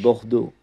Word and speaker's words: Bordeaux: I hope I pronounced that correctly. Yeah, that's correct. French. That's Bordeaux.